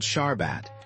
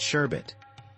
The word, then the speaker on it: sharbat: passed it to Hawksworth it's called sharbat the topy Wallas all seem to like it and mispronounce it sherbet a water was sugar